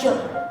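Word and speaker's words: じょ: Terus ini adalah jo, dibacanya adalah jo.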